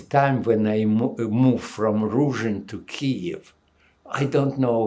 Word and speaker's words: Ruzhyn: INT: And where in-- Ruzhyn is that how you pronounce it? EV: Yes, Ruzhyn.